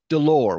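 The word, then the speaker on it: Delors: speech read up yours delore which of course has a silent S at the end of it so it looks like up yours Dolores and that's a whale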